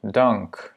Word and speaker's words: dank: Donc, que ce soit différent ou pas, le A, donc la voyelle qui précède deux consonnes différentes ou similaires, ou voilà, ça reste un A court. Dank, yeah?